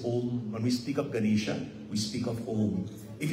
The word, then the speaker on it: Ganesha: on the Ganesha principle Ganesha two syllables Ghana and Isha Ghana means All Creations